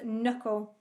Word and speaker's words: knuckle: k at the start number three was knuckle another silent k so it's about k